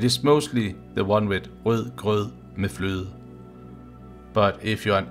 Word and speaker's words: rød grød med fløde: This should help you to be prepared in pronouncing the words correctly. And remember, it is the one rød grød med fløde that is the most common one. Rød grød med fløde.